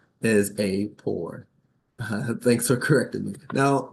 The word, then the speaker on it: AAPOR: perfect um so I've been calling this organization a a p o r but the correct pronunciation is a poor thanks for correcting me now Bianca Kristen here